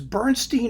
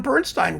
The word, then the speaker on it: Bernstein: about whether it was Bernstein or Bernstein, right? Finally, I settled on Bernstein. Why? Because his name Bernstein is German for amber. And they pronounce it Bernstein.